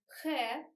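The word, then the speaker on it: х: We have sound he. It's more hard than he because he is just a breathe, it's just exhale. In Russian, we prefer hard work, and at the same time we prefer to be lazy and chill. So we have a letter he like a cross, and it's more hard than just than simply exhale. It's he. Look at the difference.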